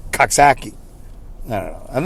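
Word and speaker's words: Coxsackie: the the the kaksakians they like to pronounce it kasaki but i say kaksaki no no i'm not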